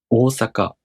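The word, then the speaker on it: 大阪: You make the third mistake because you don't elongate the preceding vowel long enough. Make sure to elongate the preceding vowel for the duration of one more. 大阪。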